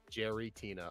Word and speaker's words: Giratina: play Lately Giratina Giratina did you say Giratina okay that's how it's spelled Jerry it's Jerry Jerry Tina okay yeah I asked